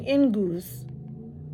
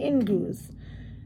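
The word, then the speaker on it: Inguz: and it has the pronunciation. Interesting, Ingus. Okay, Ingus.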